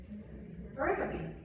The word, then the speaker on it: pericope: Pericope.